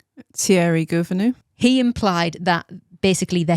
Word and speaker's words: Thierry Gouvenou: Thierry Gouvenou.